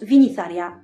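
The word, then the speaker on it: Vinitharya: Tolkien ayant déjà modifié l'orthographe du mot en remplaçant le J par un Y, je pense qu'il a fait en sorte qu'un anglophone le prononce de manière acceptable à ses oreilles. Pas besoin donc de se prendre la tête sur la valeur du TH ou du Y. À mon sens, Vinitharia, ça passe.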